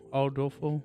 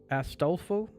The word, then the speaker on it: Astolfo: We also had I always mispronounce it. Aldolfo. Yeah, where is it? Astolfo. Astolfo. I believe that's how you say it.